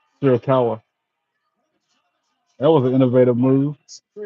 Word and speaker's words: Shirakawa: Sharapova in now against who's Sling Blade. I mean, Sharapova though. I like her. She's another one of my favorites on AEW. Shirakawa. I'm saying the name wrong. Shirakawa.